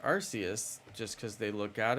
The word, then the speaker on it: Arceus: to say it right it makes sense because it's like an arc an arc is a word so it's just like a play off of the word Arc but you know you wouldn't